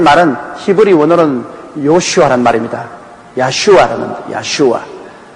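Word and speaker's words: ישוע: 태어나기 전에 이미 너는 구원자, 백성을 구원할 자란 야슈아라는 그 이름을 주신 것입니다. 그 야슈아라는 이름, 그 발음이 가장 가까운 나라 중에 하나가 우리 한국 사람입니다.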